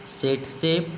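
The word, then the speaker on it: tsetse: है, एक मक्खी है सेटसे फ्लाई या मक्खी, इसमें टी नहीं पढ़ा जाता, टी साइलेंट है।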